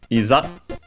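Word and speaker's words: いざ: And then we have the rest of the sentence with starting with isa which is uh an adverb and also an interjection accented on the first uh syllable.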